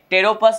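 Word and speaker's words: Pteropus: पैरों पर क्या है तेरो फस यहां पर पीस साइलेंट होता है लुटेरों पर क्या होता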